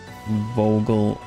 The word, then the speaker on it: Vogelsang: Vogelsang, or you pronounce it O and then like put some phlegm in there. F-O, phlegm, E-L, Vogel, sang, like that.